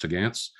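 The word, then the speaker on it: topgallants: sails, the upper sails, which are spelled top gallants, but pronounced tagantz.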